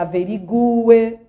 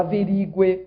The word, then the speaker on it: averigue: A pronúncia é que ela averigue e não que ela averigue, como escutamos por aí.